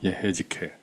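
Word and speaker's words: יחזקאל: 에스겔 에스겔은 히브리어로 예헤지켈이라고 읽죠. 예헤지켈. 그래서 한국 사람들은 에즈겔이라고 있고요.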